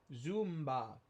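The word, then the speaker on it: Zoomba: Zumba is how it's pronounced.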